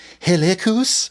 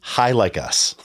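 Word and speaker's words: Hilikus: this I was like is it helus and you were like no no this is high like us high like us we've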